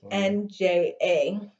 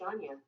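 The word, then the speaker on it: Ajna: Anja? That's pronounced Anya.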